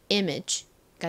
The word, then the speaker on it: image: 그리고는 g 소리가 나죠 그래서 읽어 보면 가장 앞에 아는 e 소리가 나고요은 미음 소리가 나죠이 미음 소리가 뒷부분 소리와 연결되니까 image이가 됩니다 한국식으로 이미지이라고 보통 쓰죠